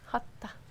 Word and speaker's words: Hatha: So in the anatomy of Hatha Yoga, how do you pronounce that? Hatha.